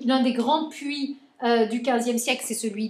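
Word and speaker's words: puys: ces associations qu'on appelle les puits ça s'écrit pu u y s pas comme un puit où on tire de l'eau d'accord hein bon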